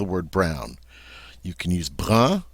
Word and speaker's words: brun: Without the E, we have a nice nasal sound, brun.